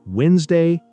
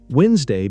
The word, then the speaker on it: Wednesday: My three favorite words today are Wednesday, restaurant, and salmon. Great choices. Wednesday becomes Wednesday. The first D is silent.